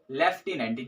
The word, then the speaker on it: lieutenant: ठीक है, और यहाँ पे क्या हो गया, इसकी स्पेलिंग जो होगी LIEUTENANT। ठीक है, ये होगा हमारे पास लेफ्टिनेंट। ठीक है, और इसकी जो प्रोनाउंसिएशन होगी वो भी लेफ्टिनेंट ही होगी।